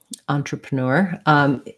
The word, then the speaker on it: entrepreneur: i spell that right entrepreneur is last syllable stress this en sounds like an ah and like our word on and then we have this e says schwa antra pra basically these three unstressed are all schwas they all sound like